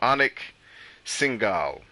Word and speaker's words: Anik Singal: Anik Singal.